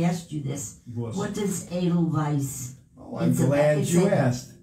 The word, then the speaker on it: Edelweiss: on broadway the sound of music 1950 incorrect pronunciation edelweiss not eagle weiss i think it's a vice versa all right